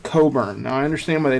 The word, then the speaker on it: Cockburn: names Cody are Kofi his last name is phonetically pronounced Cockburn but they pronounce it Coburn now I understand why